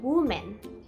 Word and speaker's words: women: า จ ะ อ่ า น ว่ า women women น ะ ค ะ โ ด ย